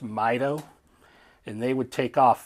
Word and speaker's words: MITO: They did something called, and it's an acronym, it's MITO, it's pronounced MITO, and they would take off 15 seconds apart.